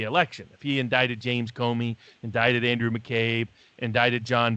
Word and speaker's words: Comey: If he indicted James Comey, indicted Andrew McCabe, indicted John Brennan, indicted Clapper, or even Lisa Page or Peter Strzok, or I guess it's pronounced Stroke.